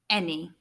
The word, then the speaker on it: any: The A letter, the letter A, is making an E sound, which is not what it usually makes.